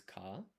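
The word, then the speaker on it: 賢い: You don't pronounce this I. So this is Kashi.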